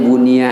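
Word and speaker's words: بُنِيَ: di surga amin ya kalau baca Bana jadi baitan bacanya Bunia aja majhul karena di situ enggak ada alifnya ya Buni lahu baitan baitun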